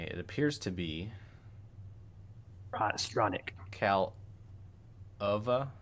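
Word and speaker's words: Kaleva: Calova, KAL-UH-VA. Calova. Hopefully that's right.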